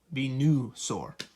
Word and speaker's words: Venusaur: Because Venusaur, it kind of sounds like there's an A after that N. But there's actually a U. It's actually Venu, Venusaur.